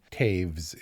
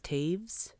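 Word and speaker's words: Toews: but the the novel Miriam Taves is how you pronounce it miam Taves t o e WS is Taves yep but Sarah poly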